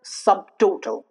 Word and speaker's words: subtotal: For example, subtotal here. Even though the T occurs after B, the T is pronounced because obviously this is a compound word where two words form to become one single word. That's why the B is pronounced subtotal, subtitle.